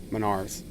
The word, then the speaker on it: Menards: Is it I would say Menards, but how how is it? I don't know. What is that? Menards.